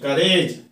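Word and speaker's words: courage: करेज, करेज, करेज, COU का RAG raise, करेज। यहाँ पर यू जो है साइलेंट है, यहाँ पर जो यू साइलेंट है।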